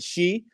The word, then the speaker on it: Xi: And Donald Trump had to go and talk to President Xi. I believe that's how you say his name, XI, President Xi.